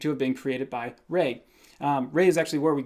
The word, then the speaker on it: Ra: the Egyptians chiefly worshipped the sun god Ra, which is actually pronounced Re or Re.